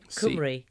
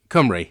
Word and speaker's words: Cymru: now, I don't know how to pronounce this. What, the Welsh for Wales? Cymru. Cymru, thank you.